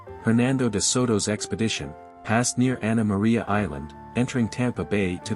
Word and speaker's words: Anna Maria: Charles II of Spain pronunciation of the name has evolved early residents said anamar yaa while today it's commonly anamar Spanish influence waned after